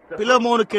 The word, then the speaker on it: பிலேமோன்: எனவே பிலேமோன் என்று பின்னால் உள்ள யாரோ ஒருவர் கூறினார். அதுதான் உண்மையிலேயே சரியான உச்சரிப்பாக இருக்கிறது என்று நான் நினைக்கிறேன்.